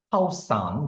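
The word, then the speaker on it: ข้าวสาร: 이 " 카오산 " 은 실제로 이런 발음 입니다 . 카오산 .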